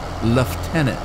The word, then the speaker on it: lieutenant: Like like I have no idea why the English pronounce lieutenant left tenant. And I'm not pronouncing that very well, but that's what it sounds like to to us. Left tenant instead of instead of lieutenant.